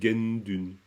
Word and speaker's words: Gendun: le mot ici Gendun vous dites gen il y a pas de Na mais on dit Gendun dans la prononciation habituelle mais ça vient simplement du fait que le chchung comme préfixe provoque ça çaàdire gun ok voilà